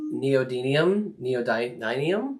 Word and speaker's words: Neodymium: Not if you use those really thin, like I can never say the word neodymium. Neodymium. Yeah. Should I be looking that up? How do you even spell that?